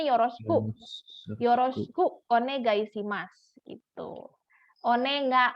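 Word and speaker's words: お願いします: yoroshiku bacanya yoroshiku yoroshiku onegaishimasu itu Oneng Oneng lebih ke onegaisimas ya onegaisimas jadi kayak ngambang gitu loh Oneng Aisi Mas kayak gitu kurang lebih seperti itu dan selesai nah ini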